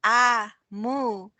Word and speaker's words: Omu: note to the reader amu pronounced aa mu is the ibo term for queen we're listening with our